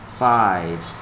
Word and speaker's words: five: Number four thì âm tận cùng nó không có âm gì hết, nhưng mà đối với số 5 phía sau nó có cái âm v, so mình đọc là five.